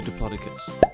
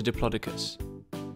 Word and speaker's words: Diplodocus: about Diplodocus how do you say that again deer claw duh cus how big was a Diplodocus it was one of the longest dinosaurs ever